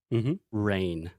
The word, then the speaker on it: reign: Reign. Reign, yeah. Yeah, reign is one of those weird words in English that we spell with the E-I-G-N. There's a G in there for some reason, for no reason.